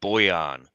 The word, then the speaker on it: Bojan: Second thing, I went to school with a fella who had the exact same spelling of his first name, and it was pronounced Boyan. So I don't know if we're pronouncing it the incorrect way or not. I don't care. I'm pronouncing it the Aussie way.